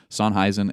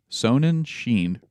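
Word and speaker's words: Sonnenshein: okay and then three son heisen again uh that's not how you pronounce that son sonin Sheen right who remember is the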